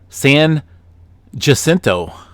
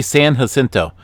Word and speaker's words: San Jacinto: One of my subscribers here recently unsubscribed from me because I pronounced San Jacinto wrong. It's supposed to be San Jacinto. Like jalapeno, San Jacinto.